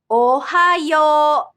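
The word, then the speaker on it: おはよう: Ohayo. Yo at the end is pronounced with a long sound O rather than OU.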